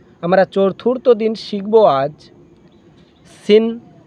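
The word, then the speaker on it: سين: Scene শিন, এটা scene দন্ত স যেমন হয় দন্ত স, সিন সিন সিন।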